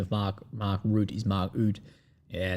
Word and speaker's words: Rutte: Someone says the correct pronunciation of Mark Rutte is Mark Oud.